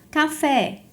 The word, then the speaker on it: café: Café é uma oxítona terminada em E.